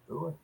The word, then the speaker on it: Booher: But it would be the same pronunciation as Booher, correct? Booher.